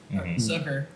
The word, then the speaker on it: Zucker: onto this artist named Jeremy Zucker sucker actually it was technically how you say it but um yeah like